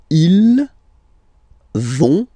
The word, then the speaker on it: ils vont: you don't pronounce it, so ils vont, final T, not pronounced, ils vont, and then feminine form, elles vont.